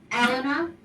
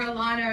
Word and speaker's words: Elena: i must tell you my name is pronounced elena okay so just so you know um but uh i know everybody calls me elena or alana or this but i just let you know if it's elena like ellen with an